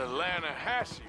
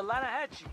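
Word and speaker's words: Lannahechee: caught some beautiful steelhead trout you mean the lanahashi river no no no no no the the lana hatchy it runs right near here yeah but it's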